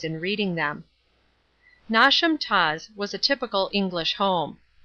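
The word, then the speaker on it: Knotacentinum Towers: place on and around not a sentinel towers pronounced as if written nauseam toss the seat of the Lord not assent pronounced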